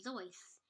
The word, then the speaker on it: Seuss: His middle name, Seuss, was originally pronounced Zeuss, but he changed the way he pronounced it because of how Seuss rhymed with Mother Goose.